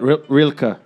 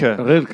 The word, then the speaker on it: Rilke: What do you feel about the poet Rilke?